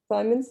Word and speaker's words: Symonds: First, excuse my pronunciation, I'm not very good at pronouncing words, period. But so Symonds, Symonds. Symonds, thank you. Symonds.